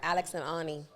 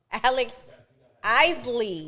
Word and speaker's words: Alex Isley: Because in my mind, I want to call her Alex and Ani, but it's Alex Isley.